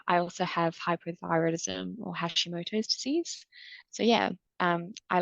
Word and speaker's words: Hashimoto's: Can you run us through Addison's and Hashimoto's? Is that how you pronounce it?